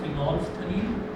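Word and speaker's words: phenolphthalein: PHENOLPHALEIN लिखा जाता है फिनोल्फथलीन। ये एल साइलेंट होता है, फिनोल्फथलीन बोलते हैं इसको।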